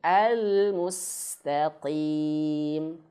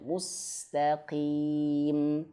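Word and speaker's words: المستقيم: Tapi huruf qof jangan disamakan. Jangan bacanya almustaqim. Nah, almustaqim. Jangan ya. Tapi almustaqim biasa saja ya, Teman-teman. Nah, coba kita praktikkan lagi ya. Ihdinasiratal mustaqim. Ah, gitu ya. Jadi jangan sampai bacanya mustaqim tapi biasa aja mustaqim.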